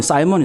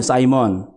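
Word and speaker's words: Simon: 온로드 시몬 시 뭐니 영어로 발음하면 싸이먼 싸이먼 여러분 성징 매매나 가발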